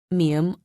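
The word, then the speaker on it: 미음: shape with your lips mium also involves a nasal voice listen carefully ma mu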